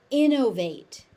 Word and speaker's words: innovate: Innovate.